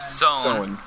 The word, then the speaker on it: Samhain: Sown, which is how Samhain is pronounced.